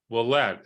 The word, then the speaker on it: Wuollet: to today I didn't even introduce it Willette is that's how you say it your last